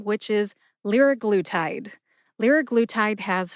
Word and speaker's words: liraglutide: So the pronunciation is liraglutide.